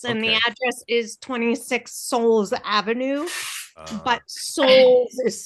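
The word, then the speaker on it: Sowles: It's It's always been 26 and the address is 26 Souls Avenue, but Souls is spelled S O W L E S, but it's pronounced Souls like S O U Ls.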